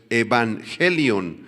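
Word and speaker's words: εὐαγγέλιον: término griego evangelion evangelion con doble gama en el griego la primera gama se pronuncia como n por eso es evangelion y significa simplemente buenas noticias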